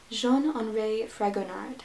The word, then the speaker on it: Jean-Henri Fragonard: Number 5 is The Swing, and I am totally going to butcher the French pronunciation of the artist's name, but it is Jean-Henri Fragonard.